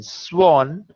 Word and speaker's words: sworn: You remember we had done the word sword. S-W-O-R-D, where W is silent. So we say sword. However, in sworn, the W is pronounced. So it will be sworn.